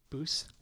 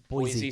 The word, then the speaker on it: Boise: I'm gonna mispronounce it. Which one? Boose. Boise State.